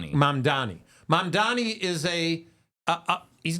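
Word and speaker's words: Mamdani: the same that uh what's how do you pronounce the New York guy who's running for Mandani? Mandani.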